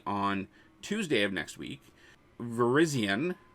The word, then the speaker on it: Virizion: Tuesday of next week Virizion not Verizon Virizion is going to be